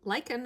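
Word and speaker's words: lichen: Lick. Like, that's like, right? Lyken is spelled L I C H E N. So, I think so. I'm sure you guys will correct me if I'm saying it wrong.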